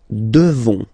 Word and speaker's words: devons: Nous devons. Okay? Classic ending ONS for nous. Okay? You just pronounce this on, on, this nasal. Okay? And then the S, final S is not pronounced.